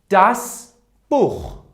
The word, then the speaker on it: Buch: For example, das Buch. Repeat after me. Das Buch. Look, before se ha, we have u. For this reason, we will say das Buch.